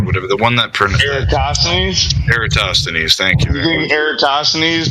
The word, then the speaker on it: Eratosthenes: It's the same as as a lot of people like to claim that I can't pronounce the name, but Eratosthenes or whatever, the one that Eratosthenes. Eratosthenes, thank you.